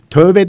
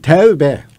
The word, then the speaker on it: tevbe: Mesela tövbe değil. Tevbe. Tevbe yazar. Tevbe.